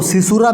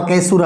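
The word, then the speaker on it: caesura: तो उसके हिसाब से इसको सी सूरत भी पढ़ते हैं और केसुरा भी पढ़ते हैं जैसे जिसके मैन में आए ऊपर लेता है और लेकिन पदों कुछ भी पर स्पेलिंग यही रहेगी और यह होता क्या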